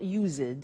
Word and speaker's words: used to: But the pronunciation is not used, it's used. Unusual. Used. Okay? So the example is I used to smoke. And that's for all the subject forms. I used to, you used to, he used to, she used to, we used to, they used to. Okay? So I used to smoke. I used to play tennis. I used to wear fur. Okay? Pronunciation used.